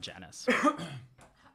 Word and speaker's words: Janus: him, and I'm playing Janus de Cassiel, who is an Aasimar bard. Janus or Janus? Janus, Janus, got you. Okay, perfect then. like the Roman god Janus.